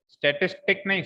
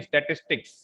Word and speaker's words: statistics: हाँ पहले हंस ले, हाँ स्टैटिस्टिक नहीं स्टैटिस्टिक्स, हाँ बोल के बताओ, प्रोनाउंस कर, हाँ पीछे साक्षी, हाँ स्टैटिस्टिक्स, शॉर्ट में इसको बोलते हैं स्टैट्स, क्या बोलते हैं स्टैट्स।